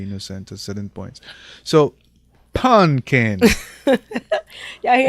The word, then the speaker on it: Punkin: So, Punkin.